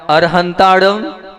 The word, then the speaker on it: अरिहंताणं: मैं आप लोगों से ये कह रहा हूं अरहंत अरिहंताणं और अरु हंता ऐसा आप लोगों को उच्चारण करना है पहली चीज दूसरी चीज उच्चारण